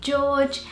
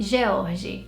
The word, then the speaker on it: George: Baby boy name number 3 is this one, and in British English you say George, and in Portuguese you would say George.